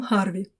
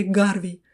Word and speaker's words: Гарвей: О возможности переливания крови никто даже не задумывался до открытия, которое совершил в 20-х годах 17 века Уильям Харви или Гарвей, как принято произносить его фамилию на русском.